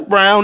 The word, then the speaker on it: Braun: It's like, hold up, that's Brown, that's Braun, but it's pronounced Brown.